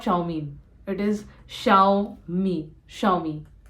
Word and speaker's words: Xiaomi: is a Chinese brand and it is not xiaomi not xiaomi it is xiaomi Xiao me it is not xiaomi it is Xiao me xiaomi again many people